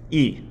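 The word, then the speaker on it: え: This is pronounced like the E in eel, E. The third sound is U. This is pronounced like U in ooh, ah, U. The fourth sound is E. This is pronounced like the E in egg, E.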